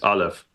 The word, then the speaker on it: Aleph: Yeah, I'm pretty sure I'm pronouncing it right. It's Aleph.